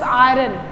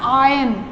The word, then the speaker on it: iron: IRON, जिसको आप बोलते हो iron, but this is not pronounced just iron. This is called as, this is pronounced as iron. Look here, I-R-O-N. This is pronounced as iron, iron. R is silent, R की आवाज नहीं आती.